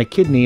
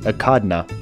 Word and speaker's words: echidna: a kidney no and a kidney is a part of the body it's pronounced akadna no he says a kidney I heard it last night no he says akadna you know what why